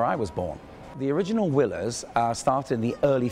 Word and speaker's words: Willers: wheelers in French so w i l l e r s for a Frenchman is whe for us it's Willers I just got my